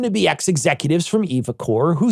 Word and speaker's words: eviCore: case evocore I'll be very careful when I pronounce it evocore get goes into Cahoots with the insurance company